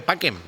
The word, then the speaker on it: pacem: Cuando tú dices, ves algo que pone, pues lo de que decimos pachem, ¿no? Pacem, pues se dice paquem.